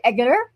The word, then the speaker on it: Eggeter: It's pronounced like an egg, everybody.